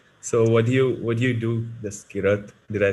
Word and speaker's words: Jaskirat: So what do you do, this Kirat?